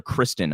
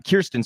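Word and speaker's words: Kyrsten: cinema or kirsten cinema i think i always call her kristen i must have i don't really i've been mispronouncing her name this whole time kirsten cinema not so much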